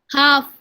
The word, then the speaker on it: half: And the pronunciation? Half.